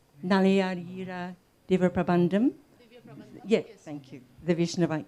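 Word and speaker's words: Nalayira Divya Prabandham: Is that the correct pronunciation? Nalayadira Diva Prabandam?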